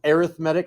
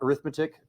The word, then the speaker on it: arithmetic: There's arithmetic, and it is pronounced arithmetic, not arithmetic, because it's in a term of a sequence.